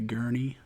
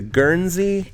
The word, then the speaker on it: Guernsey: The Gurney. The Guernsey. There's an S in it, so it's not there Gurney.